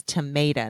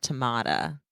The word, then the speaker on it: Tomata: It's tomato, not tomada.